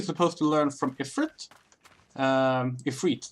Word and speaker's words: Ifrit: Ifrit, that's how you pronounce it.